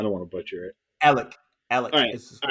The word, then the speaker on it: Alec: Well, if you're not playing Calvin and you're playing, how do you pronounce his first name? I don't want to butcher it. Alec.